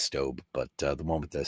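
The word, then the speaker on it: Staub: of that is I I've called it stab my whole life and apparently it's stob but the one with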